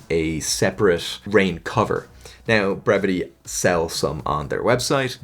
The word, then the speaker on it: Brevitē: is is a brevity brevity pronunciation brevity is pronounced brevity which means clear and concise brevity that's right